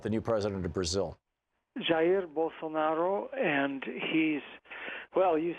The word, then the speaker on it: Jair Bolsonaro: Jair Bolsonaro, and well, you said most of what we need to know.